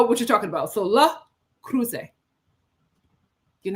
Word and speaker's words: Le Creuset: It's a French company, a great French cookware company, and that is how you pronounce it.